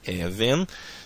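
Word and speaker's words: אבן: a palavra even e a sílaba tônica tem tendência a estar aqui na primeira sílaba da palavra por causa da segol então fica even significa pedra tá veja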